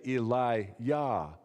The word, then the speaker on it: Elijah: that syllable yah and if we were saying Elijah's name in in Hebrew we'd probably say Eli yah ill is the beginning of his name God yah is the end of his name Yahweh it's